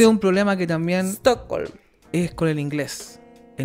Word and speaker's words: Stockholm: Uno como chileno pronuncia Estocolm. Estocolm. Claro. Uno le pone una E. Antes de las... Siempre. Y ese es un problema que también... Stockholm.